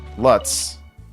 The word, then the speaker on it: Lutz: Lutz. That rhymes with nuts.